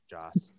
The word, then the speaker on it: Joss: i mean we know josh whedon wanted to give a vision a penis joss god damn it i do say it correctly majority of the time there's no h i know doing it